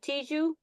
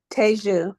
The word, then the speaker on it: Teju: Is that how you want to pronounce it? Tiju? Teju, yes. Teju.